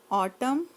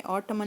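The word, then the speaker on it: autumn: Spring बहार, summer गर्मी, ऑटम यहाँ पे एन है तो ये साइलेंट है, ऑटमन नहीं है। ठीक है, यहाँ पे एन साइलेंट है।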